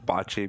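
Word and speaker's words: boccia: venue and I'm so glad you called it botchy because I've been told many times we've switched it to Bacha and I'm like no it's I'm not on board with pronouncing it with the British accent in our Canadian accent and uh I appreciate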